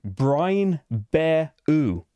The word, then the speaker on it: Brian Boru: I should have been saying brine bear oo. So brine, like hot dogs in brine, and then BER-00. Brine bear oo.